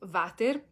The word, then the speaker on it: water: in this sort of wxy uh group is vater or um vichy wc which of course means